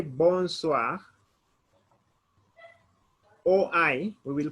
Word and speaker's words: bonsoir: medi that is good afternoon good evening we pronounce it bon soir bonsoir it is b o n s o